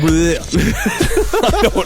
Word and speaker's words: beret: Yeah, but that's if you That's how you say beret in Spanish. But in French it's beret.